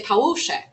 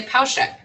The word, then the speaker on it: Pałuszek: my name in Poland, I would say Pałuszek. I wouldn't say Pauszek. So in Poland, I'm going to say Pałuszek because that's how it is.